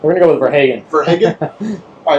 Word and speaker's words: Verhagen: How do we pronounce that? We're going to go with Verhagen.